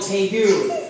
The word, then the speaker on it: tegu: But this is called the tegu. It's spelled T-E-G-U.